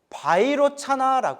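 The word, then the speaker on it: वैरोचन: 자체다 뜻이에요 깨달음의 몸인 비로자나 부처님 비로 자나를 인도 산스크리트어 원음으로 바이로 차나라 해요 무슨 나 바이로차나 바이로차나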